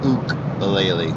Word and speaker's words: ukulele: So I learned in California that a ukulele is actually pronounced ook-a-lele, ukulele. So it's not uke, it's ook, which feels really weird to say.